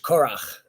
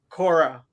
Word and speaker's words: Korah: I want to mention that I don't know how you would pronounce his name in English. Korach. Korah, they call it.